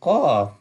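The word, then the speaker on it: قاف: The first part looks like Fa, so that will be Qaf. And this one also bold letter, so we will pronounce with full mouth, Qaf, Fa, Qaf.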